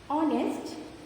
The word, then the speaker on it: honest: Next is silent H. R, honest, honor. In these words, H is silent.